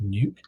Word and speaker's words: Nuuk: It's called the Nuuk, N-U-U-K, I presume it's pronounced Nuke.